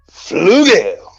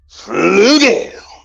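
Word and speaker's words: Flügel: Flugel. That's how y'all got to say his name from now. Flugel.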